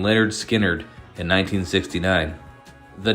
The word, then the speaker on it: Lynyrd Skynyrd: were ultimately shelved which made their follow-up effort pronounced Leonard Skynyrd their actual debut in 1973 the album featuring